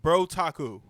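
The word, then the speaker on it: Brotaku: you're to say it it's literally otaku with bro in front bro taku there you go the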